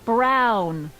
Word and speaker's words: Brown: to a t that's EMT Brown rhymes with clown which I'm beginning to